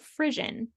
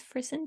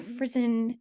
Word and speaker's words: frisson: It's not Frisian, but I think it's Frisson, something like that.